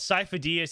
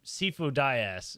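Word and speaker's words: Sifo-Dyas: characters like he calls he calls sifo diaz he calls him sifu dayas sifo dayas yeah over and over again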